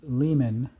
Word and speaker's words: Lyman: Um, so this tumbler is called a Lehman Turbo Pro 1200 tumbler. So Lehman is spelled Lyman. So that's Lima, Yankee, Mike, Alpha, November.